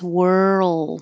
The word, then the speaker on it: whirl: So think of were, like where were you, with an old, and you don't have to think of any vowel with the just make the L noise, whirl. Once your tongue goes from the R to the L, hold it in the L position long enough that it can be heard.